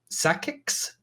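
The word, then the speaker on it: Psakiks: it's this is so hard to pronounce. Sakix, P-S-A-K-I-K-S.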